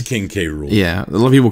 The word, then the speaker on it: King K. Rool: See, I think it's King Cruel. I understand King Cruel. That's the joke on how it's spelled out. But I call him King. It's King K. Rool.